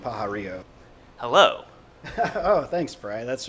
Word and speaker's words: Pajarillo: think it will be is uh uh Brian pararo which is how I'm going to say it